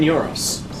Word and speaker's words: gyro: add Greeks to it even Euros or Gyros whatever you call them though it's technically pronounced Euro don't oh yeah it could